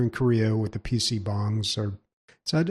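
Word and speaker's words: PC bang: I know they're still very popular in Korea with the PC bongs or is that how you pronounce it?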